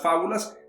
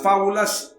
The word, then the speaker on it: fábula: la fábula viene del latín fábula o fábula lleva un acento en la una íntimamente relacionado con el